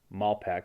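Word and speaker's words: Malpeque: west side of malpaque mal peck bay okay that's pronounced malpac bay in prince edward island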